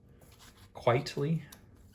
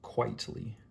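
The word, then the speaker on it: Quitely: otley and frank quietly quietly my friend said i'm saying it wrong quietly the way it's spelled this is 15 so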